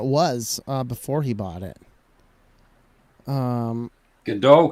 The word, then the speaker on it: Godot: Godot can also be pronounced Godot. Yeah. Well, it's like has like French origins or something like that, I think. Tim Berners-Lee had a project so it's for more spelled like Home Depot, the depot part.